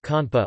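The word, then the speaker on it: konpa: Compas conpa, also known as compas direct in French, or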